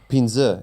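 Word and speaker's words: پنځه: Pinza. In Afghan, it's pinza.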